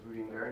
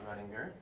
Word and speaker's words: Rudinger: And so for all of you, it is Rudinger, not Rudinger.